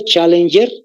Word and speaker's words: Challenger: se llama el Abismo Challenger se llama otra vez Challenger está en inglés no ve tal como se escucha Challenger pero es con doble L y con g de gato al final Challenger si quieren ustedes ejercería